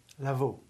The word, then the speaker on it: Lavau: Lavau.